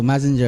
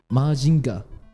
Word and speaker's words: Mazinger: Wait, so Mazinger, how is it pronounced in Japanese though? Majinga.